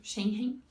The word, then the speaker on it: Schengen: Então, se você for visitar países, na verdade, do espaço Schengen, que é Schengen, difícil pronunciar essa palavra, esse tratado, que inclui a